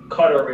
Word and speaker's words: Qatar: a variety of different ways and it's the cutter is the most most correct way to pronouncing and so what we saw just the